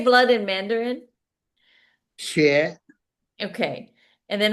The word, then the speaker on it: 血: 血.